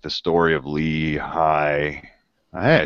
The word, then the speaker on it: Lehi: And so the gold plates was like the story of Lehi.